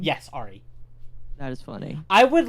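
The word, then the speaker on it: Ahri: yeah that's a thing is that how you pronounce the name yes Ari that is funny I would like to get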